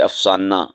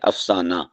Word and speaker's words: افسانہ: زبان کا لفظ ہے، بعض اسے افسانہ بول دیتے ہیں، افسانہ یعنی تشدید کے لہجے میں، یہ غلط ہے، صحیح کیا ہے؟ افسانہ، یہ داستان اور قصہ